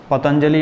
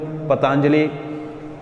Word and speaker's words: Patanjali: Patanjali or Patanjali, different pronunciation are there.